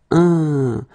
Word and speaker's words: un: Numéro 13, it's this un. So nasal, it goes in your nose. Un, fin. Okay, fin. Un, fin.